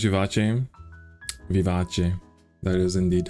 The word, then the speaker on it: Vivace: Is that how you pronounce Vivace? Vivace.